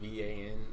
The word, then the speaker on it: Revan: His name isn't spelled like that. It's like Revan, which is weird.